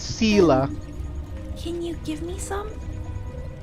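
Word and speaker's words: Seele: always yelling at people I keep saying her name wrong it's Selah can you give me some the vagrance injuries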